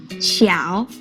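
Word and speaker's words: 小: character easy right now how about this one xiao it means small or little did you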